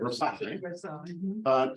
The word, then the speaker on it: Versailles: Versailles, to end French colonial occupation of Vietnam in 1919.